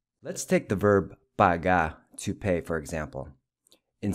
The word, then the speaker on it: paga: The final A is pronounced as in Cuba.